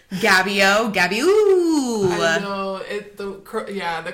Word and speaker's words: GABBYOO: It's Gabby O is the way I like to pronounce it, but it's spelled GABBYOO.